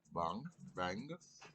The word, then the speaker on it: bhang: What spell that again? B-A what? BHANG. BHANG. Yeah. Bang.